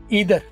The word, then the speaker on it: either: ईदर, ये लफ्ज ईदर और आइदर में फर्क है। ईदर और आइदर दोनों ही सही है प्रोनाउंसिएशन, नीदर और नाइदर दोनों, जैसे नीदर और नाइदर, ईदर और आइदर, आइदर नाइदर या ईदर नीदर, ये दोनों ही ठीक है।